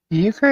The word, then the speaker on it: euchre: TT Shauna says it's pronounced euchre. UKER.